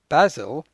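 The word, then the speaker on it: Basel: about the city of Basil in Switzerland which has a similar sound it's has two syllables but as you can hear the stress is on the first syllable basil so this may be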